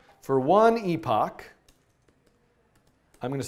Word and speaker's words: epoch: Uh epoch, which is, in my view, the proper pronunciation of this word, not um how I like to Never mind. Anyway. So, epoch or epic, whatever.